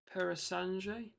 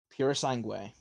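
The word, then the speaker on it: Purosangue: I have a feeling I'm going to offend a lot of people with this pronunciation. You normally do. It's a Ferrari. What about this Ferrari? Perasange? Pura Sangue.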